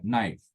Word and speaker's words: knife: The same thing in the word knife. We forget K, we pronounce or speak sound N, knife.